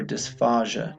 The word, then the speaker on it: dysphasia: very often and it when you look at it it's difficult to pronounce so just remember DISA Faja do you is pH